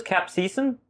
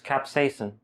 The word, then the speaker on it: capsaicin: amount of capsaicin present i used to pronounce his cap season this was me saying I was wrong it's capsaicin okay potato potato and